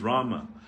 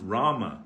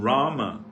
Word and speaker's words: Rama: thing is spoiled but Rama is the grammatically correct pronunciation everything depends on the